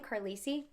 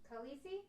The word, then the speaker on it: Khaleesi: so good how do i say her name carlysi khaleesi khaleesi there you have it guys this was